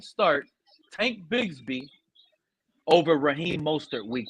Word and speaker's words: Mostert: Hey, I drafted your running back, Mozart. I got good meds. Mozart? Try to say his name. Raheem Mostert? Yeah, Mostert.